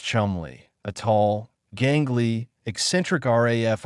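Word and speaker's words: Cholmondeley: And Charles Chumley, pronounced Chumley, a tall, gangly, eccentric RAF officer with a mustache and a mind that worked in strange corkcrew loops.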